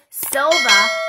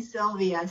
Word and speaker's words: Silva: that is absolutely perfect everyone butchers my last name and calls me sylvia so you got it